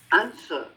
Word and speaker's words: answer: And then we go on to the silent W. Answer. Answer. Answer. We don't say answer. Answer. Answer. Forget the W. Answer.